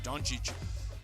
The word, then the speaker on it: Dončić: appreciate I want to say his name right Don Cheech Lucca Don Cheech he's one of the greatest